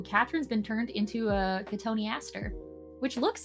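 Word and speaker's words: cotoneaster: four um o Catherine's been turned into a katoni Aster which looks like it says cotton Easter but it's pronounced Katon Aster no I think a cotton Easter plant is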